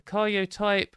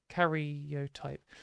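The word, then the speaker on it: karyotype: 50 counted cells had 46 chromosomes uh the carot type sorry I've been saying it wrong cotype analysis by the Cuban method revealed her sex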